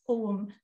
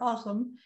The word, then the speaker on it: Ogham: in a writing system known as Ogham in modern Irish pronunciation, or Ogham in Old Irish pronunciation.